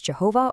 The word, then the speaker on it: Jehovah: Now, because ancient Hebrew didn't really use vowels in its writing, we don't know the exact ancient pronunciation, but it's usually rendered today as Jehovah or Yahweh.